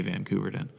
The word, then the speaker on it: Koeverden: van kayak and my Instagram is at a Vancouver den and yeah Vancouver Dan's easy it's koe instead